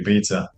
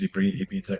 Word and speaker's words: Ibiza: The thing is that if you say it Ibiza like a Spanish person, you sound like an Yeah. asshole because you sound snooty. Uh, I just call it Ibiza, which I'm pronouncing like a Puerto Rican person, Ibiza.